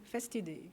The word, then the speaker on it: Festidei: Donc, comment vous prononcez Festidei? Festidei, oui.